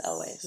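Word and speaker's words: Elwes: like I'm saying it wrong Elway lways it's elways um I read his autobiography about the making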